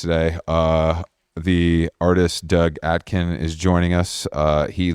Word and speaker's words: Aitken: do you say it say your last name Aken Aken all right fine I was close yeah